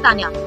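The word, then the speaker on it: Tanja: and y a but in german t and j a that is tanya okay not okay you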